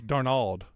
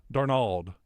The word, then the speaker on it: Darnold: People say, he says Darnold. Darnold. I caught that today. Darnold. Like he's Spanish, putting the emphasis on Nald.